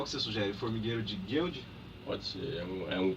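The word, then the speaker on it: Goeldi: Como pronuncia o nome? Formigueiro de Guild.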